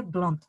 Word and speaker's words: blonde: Elle est blonde. Elle est blonde. Parfait. Il est blond. Blonde. Elle est blonde. Con la D aquí, aquí sonora.